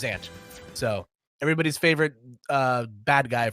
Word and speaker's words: Zant: It is just pronounced ZanT.